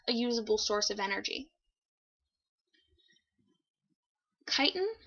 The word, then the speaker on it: chitin: usable source of energy chitin i know it looks like it's not pronounced that way but it's chitin it's found in the